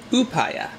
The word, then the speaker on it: Upaya: oh I see this it tells you right here who paya this is in Canada